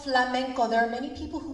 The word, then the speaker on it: flamenco: this morning it's called and um it's called flamenco there are many people who mispronounce it and call it flamingo or for glorico but it is flamenco here we have a map of spain bo